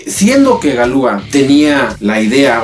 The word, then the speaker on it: Galois: que se llamaba evarist valois que se pronuncia galúa el cual tenía sus